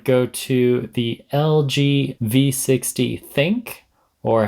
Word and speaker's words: ThinQ: Now, as far as battery durability, my award would go to the LG V60 Think, or how I used to pronounce it, the LG V60 ThinQ.